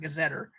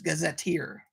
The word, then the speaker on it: gazetteer: told it's pronounced gazetteer that's how you're supposed to say it not gazetter it's gazetteer um and this was